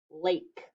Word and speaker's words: lake: would be a word like lake l-a-k-e the e makes that a long okay and let's